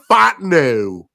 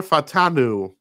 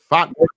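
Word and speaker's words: Fautanu: Another versatile kind of guy, Troy Fontenot. Right, Troy Fatanu. How do you say this guy's name? Fatanu, right?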